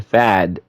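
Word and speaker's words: Pfaadt: seeing a World Series rematch here as Brandon fad that's how you pronounce his name he'll be going on the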